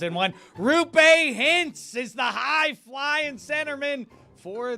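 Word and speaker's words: Roope Hintz: I betrayed myself by giving it multiple pronunciations in one. Rupe Hintz is the high-flying centerman for the heavyweight team, the Dallas Stars.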